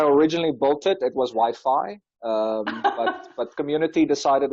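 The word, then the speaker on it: YFI: but when i originally built it it was wi-fi um but but community decided it's wi-fi so now it's wi-fi yes i looked at the interview and they're like oh it's wipey wiping so okay why be token could you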